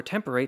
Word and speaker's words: temperate: month of May, and too short a date rhyming with more temperate, at least if you pronounce it like Shakespeare.